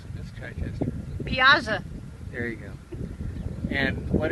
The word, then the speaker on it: Piasa: How do you pronounce that? Piasa. Okay, how do you pronounce it, Miss Chichester? Piasa.